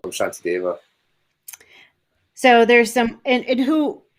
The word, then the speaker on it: Shantideva: it i said uh santi dama yeah you know they have the the s with the little accent over it is a sha sound apparently right that's how